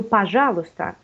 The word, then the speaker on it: пожалуйста: And I think the first is пожалуйста. Пожалуйста. We do not pronounce y.